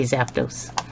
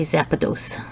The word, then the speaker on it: Zapdos: those look at him i don't know why i put an extra syllable in there when i say zapdos see zappados it's a pikachu a